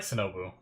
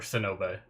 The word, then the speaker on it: Sinube: I like Shinobu. Or Sinube. Sorry. Another show I watch is Shinobu, and it's spelt like almost similar.